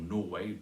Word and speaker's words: Norway: You could make it Sweden or Norway, stressed on the first syllable there.